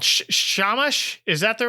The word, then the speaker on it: Shamash: Shamash? Is that the right? Am I pronouncing it right? Yeah, Shamash.